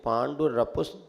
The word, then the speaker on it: पांडुर: ना आ जाए, इसलिए पांडु रपुष तोड़ना भी नहीं, लेकिन उसको जोड़ करके एकदम पढ़ेंगे, अलग भी नहीं करना, क्योंकि पांडुर अपने आप में पूरा शब्द है, लेकिन उच्चारण में ह्रस्व ना हो, इसलिए उसको ऐसा पढ़ लेते हैं।